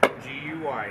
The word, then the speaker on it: Guy: G-U-Y, yes. Alrighty. Guy. Guy in French. Guy. Guy. So you're doing this out of love English for you. pronunciation is Guy, the same word as Guy in French.